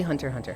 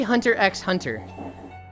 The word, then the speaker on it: Hunter x Hunter: You write the X.